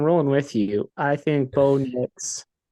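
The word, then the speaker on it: Bo Nix: with you I think B Knicks rhymes with dicks um so he's probably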